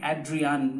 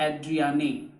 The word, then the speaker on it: Adrienne: Tigers by Adrienne Rich the pronunciation is going to be Adrienne not Adrienne a because if we go